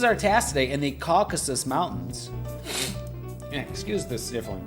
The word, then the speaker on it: Caucasus: that these mountains are called the uh uh kakusas that doesn't sound right hold on caucuses caucuses that's it we're gonna have Google pronounce that word Caucasus uh pronunciation caucuses you guys get that Caucasus Caucasus Caucasus Caucasus it's it's it's not a